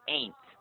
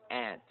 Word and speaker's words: aunt: They say ain't, aunt, Oh. aunt. So it's the same word. The pronunciations are okay because that's their regional accent. Mm-hmm. It's not incorrect pronunciation. It's just not as common or standard as aunt.